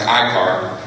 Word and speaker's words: ICAR: Marrow is the director of the International Corporate Accountability Roundtable, or ICAR, pronounced ICAR, a coalition of leading human